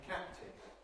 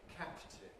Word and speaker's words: captain: Equally, we don't say captain, captain. We say captain, captain.